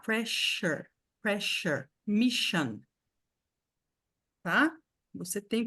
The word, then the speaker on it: pressure: Então, por exemplo, você tem escrito com dois S's com som de SH. Pressure, pressure, mission.